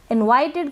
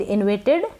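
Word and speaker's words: invited: इनवाइटेड का मतलब है आमंत्रित। इनवाइटेड, इनविटेड ना पढ़ें।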